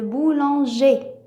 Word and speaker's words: boulanger: ER se prononce et, comme dans le boulanger.